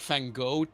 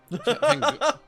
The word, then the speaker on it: Van Gogh: You can say it's like this almost dark, depressed goth, like Van Gogh character, where he's, or it's this super But that's not how you say it, though. Van Gogh.